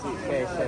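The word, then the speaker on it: Xiamen: Ah Sheng Putong ala ko Shengutang talaga si pasensya na po at syempre hindi namin alam halos lahat ng ano pronunciation. Sheshe pala.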